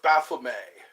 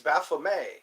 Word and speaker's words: Baphomet: The head of Baphomet. I think it's Baphomet. Yeah, Baphomet or Baphomet. Like you say, beret. Beret is spelled with an A. Beret.